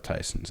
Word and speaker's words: Theisen: the way yeah it's not the spelt the same but it's definitely there's a lot of Tyson out in the world t y s o